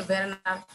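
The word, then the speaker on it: Werner: এটি কিন্তু জার্মান রাইটারের লেখা, যে ভেরনার ক্লাইন, উচ্চারণ হচ্ছে ভেরনার, ভেরনার ক্লাইন, ক্লাইন মানে হচ্ছে ছোট।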